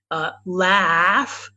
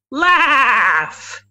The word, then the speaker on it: laughs: do you pronounce laughs the a is like Swannack um being the one would we just learned words the that's called IPA international phonetic alphabet you don't have to learn ah laughs laughs and the gh is like an F okay good you guys